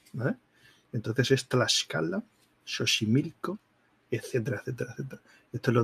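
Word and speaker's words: Xochimilco: la excan platan vale la x se pronuncia como sh Vale entonces es tascala shoshi milco etcétera etcétera etcétera Esto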